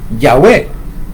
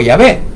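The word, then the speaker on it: Yahweh: Y dice Yahwé, Yahwé o Yahvé, cualquiera de las dos formas, pero para los para los israelitas es correcto pronunciar Yahwé o Yahvé.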